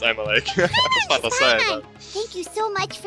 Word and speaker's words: Emilie: Emily a perfumer from if it was not pronounced Emily I'll would be like what the it is pronounced Emily thank you so much